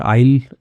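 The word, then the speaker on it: aisle: रही थी, इन द आइल, आइल के अंदर, आइल एस साइलेंट होता है इसमें, आइल का मतलब भी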